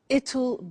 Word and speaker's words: it'll: difficult I said tomorrow it'll be cold you notice how it will becomes it'll it'll strange pronunciation yeah